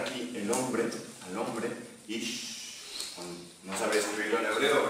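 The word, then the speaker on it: אִישׁ: La palabra que se utiliza para denombrar aquí el hombre, al hombre, ish, no sabría escribirlo en hebreo, ¿verdad? Pero se pronuncia así.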